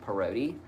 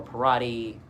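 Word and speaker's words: Parodi: I changed it to Px R O D I which it's said parody.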